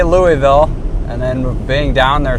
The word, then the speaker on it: Louisville: Yeah, I wonder what Louisville's like.